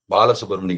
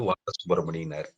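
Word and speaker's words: வாலசுப்ரமணியன்: பாலசுப்ரமணி கிடையாது, வாலசுப்ரமணியனாரு.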